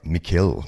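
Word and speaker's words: Mikhail: All Phase basically now Michael gorbachov or Mikel gorbachov as they like to pronounce it was the president of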